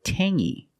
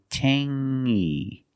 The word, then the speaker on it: tangy: clingy or this word Tangy we have the same sound it's the nasal sound only Tangy Tangy it's not Tangy it's Tangy Tang is a flavor